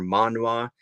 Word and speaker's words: manhwa: Manhwa or manhwa, I think is how you say it.